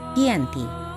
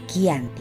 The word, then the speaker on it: Giyanti: yakni di desa cantik dalam pelafalan Belanda ia tersebut sebagai Yanti dan secara tertulis ia terbaca sebagai kiyanti di tempat tersebut sekarang